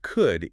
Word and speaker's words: could: But people literally shoved a silent L into the word could just to make it visually match should and would on the printed page.